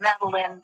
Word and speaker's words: Maline: Is it Meline or Maline? Matt, it doesn't matter, but Maline is how I was there.